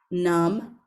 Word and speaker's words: numb: middle of the word, you know that the B is silent and we don't pronounce it.